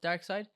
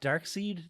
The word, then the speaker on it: Darkseid: makes it better to me it just not darksied but no it's it's but it's like dark